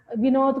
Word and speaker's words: विनोद: भाषा बोलेगा, है ना, और विनोद को बनोद बोलेगा। बहुत सारे ऐसे वर्ण है